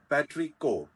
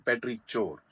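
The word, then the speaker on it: petrichor: uh this is पेट्रिक पेट्री कोर this इ नॉट पेट्री चोर पेट्री कोर पेट्री कोर क्या होता है बारिश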